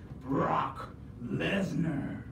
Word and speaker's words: Brock Lesnar: Oh, it's a C in there? Yeah. Oh, that's a C, girl. Let me tell you how to say it. You gotta say Brock Lesnar.